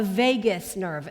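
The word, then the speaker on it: vagus: he teaches about the Vegas nerve and that's spelled v a g u s not like Las Vegas but Vegas nerve or what he calls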